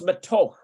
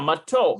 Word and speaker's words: מתוק: Or no, it's matoch, right? I think it's matoch. Matoch. מתוק. Yeah, matok.